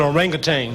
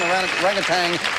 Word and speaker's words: orangutan: Vince that's an orangutang. It means man of the woods and orangutan is exactly what it is. Orangutan orangutang. People pronounce it both ways.